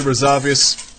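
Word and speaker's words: Razuvious: We're going to get back to it though against Instructor Resuvius. That's how you say it. You got to say it with a strong pronunciation.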